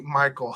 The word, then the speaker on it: Michael: time though um okay michael is pronounced exactly the same way you say michael hahaha i'm in dominican